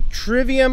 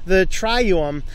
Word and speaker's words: trivium: Middle Ages, and I'm not sure if this is pronounced the trivium or the trium. I think it'd be the trium, because that V was pronounced more like a U in the original Latin, which is what I'm